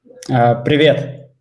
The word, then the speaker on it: Привет: And then Pivit, is that hi? Yeah. Yeah, I think he's in Russia. Raphael, we're taking a look at that. Yeah, Pivit, am I saying it right? Привет.